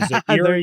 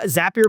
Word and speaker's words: Zapier: Uh, Zapier makes you happier. That's the trick.